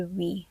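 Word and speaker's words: oui: The only French word I know is a wi, which means yes. And only recently did I learn it's spelled o ui and not we e.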